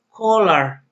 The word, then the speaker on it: collar: Collar. Collar. La doble L en inglés no existe, aunque sí se escribe, no se pronuncia. Por lo tanto, es collar.